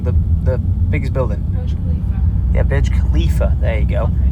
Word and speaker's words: Burj Khalifa: I think I'm always pronouncing it wrong. The biggest building. Burj Khalifa.